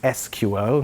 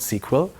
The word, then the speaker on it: SQL: or sequel or SQL so officially it's pronounced SQL not sequel we we look that